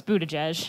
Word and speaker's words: Buttigieg: Because I thought it was Buttigieg. No, it's Buttigieg. Is it? Yes. I like Buttigieg better. Edge. But, okay. Buttigieg, yeah. I should listen to people talk sometimes instead of just reading. Beto Buttigieg.